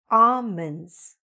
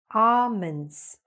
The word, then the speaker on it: almonds: I know there's an L there, but you know what? We don't pronounce it. So it should be almonds, almonds.